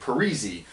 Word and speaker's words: Parise: did the same thing and now he's act Parisi and there was another guy it was the